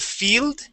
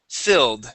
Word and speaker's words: filled: Okay, instead of field, filled. Give me that short I.